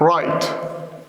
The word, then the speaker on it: write: Even baby Yamin knows these phonological facts, that the na is silent, the ta is silent, and the wa is silent.